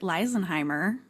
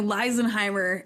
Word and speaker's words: Leisenheimer: name, too, is that oftentimes people will pronounce it Leisenheimer, but they always get it in the second half, right? Like the EI being an I sound, but the beginning they don't.